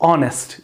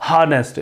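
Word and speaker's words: honest: Words होते हैं जो ऑनेस्ट, इसको गलत प्रोनाउंस किया जाता है हार्नेस्ट. ये हार्नेस्ट नहीं है, ये ऑनेस्ट. तो जो ऑनेस्ट है इसमें एच साइलेंट है और आगे जो है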